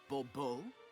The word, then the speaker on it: Bobo: The emphasis falls on the last syllable. Bbo. Mhm.